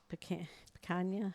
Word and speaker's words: picanha: The picanha or whatever.